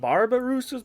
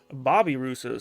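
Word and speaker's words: babirusa: hello we got some I thought they were pronounced barbarus but apparently I can't even get it out they're Bobby rousos so I just got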